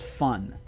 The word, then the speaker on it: Fen: Fen. It's pronounced fun, so it's fun.